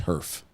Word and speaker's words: Herff: His middle name was Herf. Herf? Yeah. So Spell that for me. Herff. Nerf with an H. With an extra F.